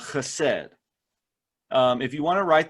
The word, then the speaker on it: chesed: a word tonight called hased if you want to write that down it is c-h-e-s-e-d and you have to say it like you have something caught in your throat it kind of looks